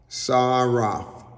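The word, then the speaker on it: שָׂרַף: And in English it's spelled Saraph, but the pronunciation is in Hebrew, and it's Saraph, and it is made up of three, I would say, three letters in the Hebrew, and there's a shin, kaf, and fe, or pei.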